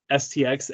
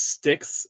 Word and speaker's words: STX: Okay, have you ever seen the old Gary Gate STX ad where he pronounces it as sticks instead of STX? It's trivia, because you're like, is it actually supposed to be pronounced as sticks and not STX?